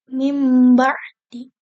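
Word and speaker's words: من بعد: Contohnya ada kalimat min ba'di. Min ba'di itu tuh berarti kalau dengan iqlab itu menjadi mim ba'di. Mim ba'di seperti itu.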